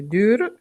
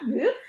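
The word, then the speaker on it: dür: Allora, lo sto scrivendo, è dur, la U con la dieresi. Brava, dur.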